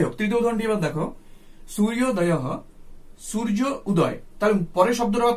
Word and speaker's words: সূর্যোদয়ঃ: সন্ধি হয়েছে, সূর্য উদয় সূর্যোদয় সূর্যোদয়ঃ, আমাদের সঠিক উচ্চারণ করতে হবে সূর্যোদয়, আমরা বাংলায় উচ্চারণ হবে সূর্যোদয় কিন্তু সংস্কৃত উচ্চারণ হবে সূর্যোদয়ঃ, সূর্যোদয়ঃ, হ মানে হচ্ছে বিসর্গের উচ্চারণটা হয়ে হয়।